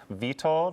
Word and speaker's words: Wytold: So my name would be, in the traditional Polish pronunciation, Wytold, and my last name is, but it used to be.